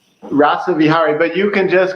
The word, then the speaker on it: Rasavihari: Now, I believe your name is pronounced Dr. Rava Rasa Vhari. Is that it? Rasa Vihari in So this in Rasa Vihari. Rasa Vihari, but you can just call me Rasa for short.